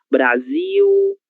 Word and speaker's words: Brasil: Como nós havíamos comentado lá no começo, a letra L, se não estiver seguida de nenhuma vogal, ela será pronunciada como se fosse a letra U. OK? Então, difícil. Difícil Brasil, oral.